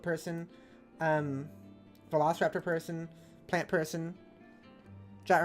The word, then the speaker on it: JAT: velociraptor person, plant person, JAT rhymes with cat, that's true.